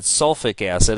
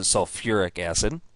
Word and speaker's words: sulfuric acid: the sulfuric acid now if you said sulfi acid I would say well yeah that's what the name would imply but we actually pronounce it sulfuric acid so SO3 is sulfite